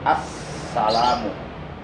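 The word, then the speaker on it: السلام: Jadi membacanya harus ditasdidkan assalamu. Jangan sampai assalamu itu tasdidnya hilang.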